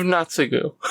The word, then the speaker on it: Naotsugu: Well, I mean, it's generally Tsu is pronounced. So it's kind of just Naotsugu.